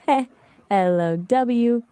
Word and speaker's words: hello: You just say it like heh, LOW with the emphasis on the second syllable.